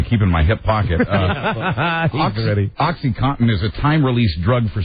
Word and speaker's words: OxyContin: I always have trouble pronouncing it. Oxycontin. Oxycontin. It's Contin. Right. Oxycontin.